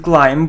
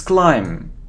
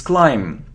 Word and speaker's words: climb: it's behave it isn't climb but it's climb so we don't pronounce B it's climb okay how do we